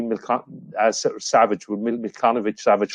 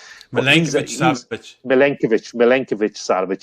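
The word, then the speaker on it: Milinković-Savić: bench, the likes of Filip Kostic and Sergej Milkanovic Savic, whatever way you pronounce that Lazio player. Sorry, I'm murdering it. Milenkovic Savic.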